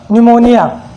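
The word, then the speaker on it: pneumonia: यदि एन या एस से पहले अगर पी आ जाए कहीं पर भी, अगर पी के बाद में अगर एन या एस से पहले अगर पी हो तो वहाँ पर वो साइलेंट हो जाता है।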